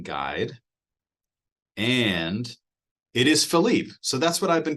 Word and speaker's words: Philippe: And see, you got to go to the pronunciation guide, and it is Philippe.